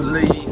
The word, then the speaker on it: Lea: Uh, some points it's called the Lee, spelled L E A, in some parts it's spelled L E.